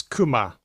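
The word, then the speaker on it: 熊: Kanji of the year is bear, and I think this is most often pronounced as kuma.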